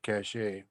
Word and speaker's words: cache: I can interject Chad the military pronounces it cachet that way they don't mix it up with cash that would be important